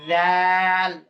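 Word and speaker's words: ذال: এটা নরম করে জাল জাল নরম করেন আরো নরম করেন জিহ্বার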